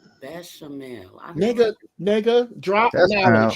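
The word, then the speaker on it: béchamel: That I gotta ask you this because I couldn't pronounce it. You said something about a sauce that your macaroni is in. Exactly. Bechamel. Bechamel.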